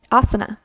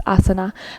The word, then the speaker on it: asana: So we did the first 2 limbs, niyamas, and now the third limb is asana. It's not asana, right? The A's all sound the same. Asana. It's asana. Those are the poses.